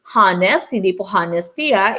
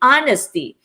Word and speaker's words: honesty: we need to remember this one is pronounced with silent h so don't you so you don't say hanes that should be honesty okay honesty is the